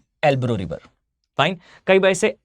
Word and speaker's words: Ebro: यहां आपको दिखाई देगा, सबसे इंपॉर्टेंटली आपको मार्क करना है भाई, यहां पर एक रिवर है, इसे कहा जाता है एल्ब्रो रिवर।